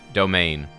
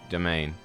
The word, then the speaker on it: demesne: This is pronounced domain. Yep, domain.